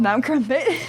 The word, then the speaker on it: Mount Crumpet: That's why it has to be called Mount Crumpet. Oh, so it rhymes with dump it.